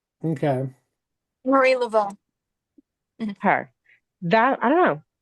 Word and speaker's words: Marie Laveau: Marie Laveau. Okay. Marie Laveau.